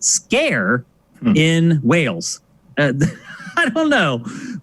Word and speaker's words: Sker: of this game um it's called made of scare although if you read